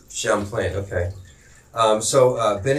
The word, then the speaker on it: Champlain: Jerry's uh is originating country man said it's pronounced Champlain Champlain okay um so uh Ben and Jerry's uh